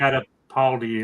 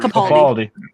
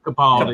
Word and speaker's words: Capaldi: with Baker and the I can always pronounce this. It's a holiday special, Peter right? Catapaldi or whatever. Capaldi. Capaldi. Capaldi, yeah, those are my 2 favorite guys.